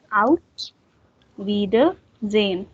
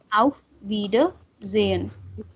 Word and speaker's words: Auf Wiedersehen: Auf Wiedersehen. Wiedersehen. It's a silent H. Yes. Like Auf there's no H there.